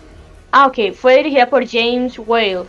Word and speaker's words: Whale: fue dirigida por James whale si no estoy mal se pronuncia wale wes para la gente